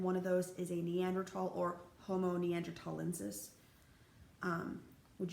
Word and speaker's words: Neanderthal: move on with that also it's neanderthal with the t meander tall sometimes you will see it spelled with just the t sometimes you will see it spelled with a th it doesn't matter it's neanderthal um please i know